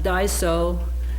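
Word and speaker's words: dgħajsa: I'm not sure how it's spelled but it's pronounced Daiso and it means a boat that takes the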